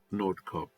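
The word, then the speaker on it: Nordkapp: Colchester to the northernmost point of Europe in Nord Cob, that's how you pronounce it.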